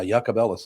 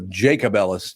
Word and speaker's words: Jacobellis: pleasant person though yeah yakob Ellis is how they pronounced them instead of jacobellis do you know anything